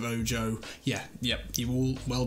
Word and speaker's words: Ojo: Saying Tavernier, I was saying Oho instead of Ojo.